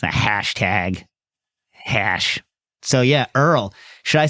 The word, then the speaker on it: URL: Wait, it's pronounced Earl? People pronounce it Earl like... I do. Earl, like the show.